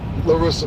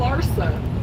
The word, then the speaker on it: Larsa: So I think a lot of females, Larissa Pippen and them, don't even. You always say Larissa, but it's okay. It's Larissa. Larsa.